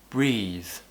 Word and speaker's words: breathe: It's a bit uncommon to have the voiced TH sound at the end of words, but it does happen. For example, the word breathe, or teethe, which is what happens to babies when they're teething.